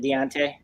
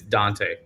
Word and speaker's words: Dante: Is it Dante? It's Dante. Dante. Like Dante's Inferno.